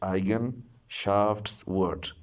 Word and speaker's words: Eigenschaftswort: So it is three-syllable word. Look at this: E-I-G-E-N, Eigen, S-C-H-A-F-T-S, Schaftswort, W-O-R-T, word, Eigenschaftswort.